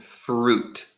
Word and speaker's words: fruit: Oh, remember for the pronunciation, we say juice and fruit. So the I is silent.